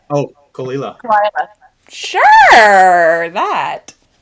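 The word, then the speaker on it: Caol Ila: to Muse oh God the yeah make me pronounce it that'll be great kale Isla oh kalila sure that it's one of my favorite actually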